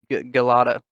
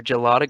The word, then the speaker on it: gelada: Galata or Gelada. Oh, I'm not sure how you pronounce Gelato. it. Pronunciation. Galadas. Giladas? It's gelada, apparently. I just looked it up. Gelada. Yeah, gelada. Interesting.